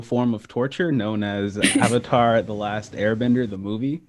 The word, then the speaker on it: Avatar: The fact that they're saying Avatar, It's Avatar. Avatar, it's pronounced Avatar.